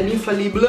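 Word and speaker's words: Infaillible: Poi lei usa, lei lo chiama Infallible di L'Oreal, io l'ho sempre pronunciato alla francese, l'Infallible.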